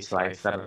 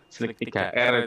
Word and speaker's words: Slic3r: Namanya slicer, E-nya pakai angka 3, berarti slicer gitu bacanya. Slick 3R juga boleh, saya kurang tahu mana yang familiar ya.